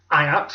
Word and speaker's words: Ajax: I'm assuming his first section is pronounced Ajax after the football team.